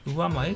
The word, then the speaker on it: 上前: ところを業界用語で上前って言います。上の前と書いて上前というふうに言います。